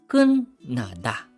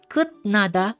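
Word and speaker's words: 끝나다: So anong magiging pronunciation? Magiging kun nada, kun nada. Okay, not kut nada, it's kun nada, kun nada.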